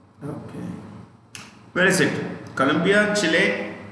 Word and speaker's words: Chile: E का last pronunciation, E जो है लास्ट में, the E is pronounced with an A sound.